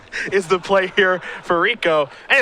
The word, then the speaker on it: Rekow: That is Rekow, is how his last name is pronounced.